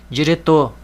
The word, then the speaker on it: diretor: vai ser a última diretor ó terminou em R Diretor sílaba tônica tor papel outra regra também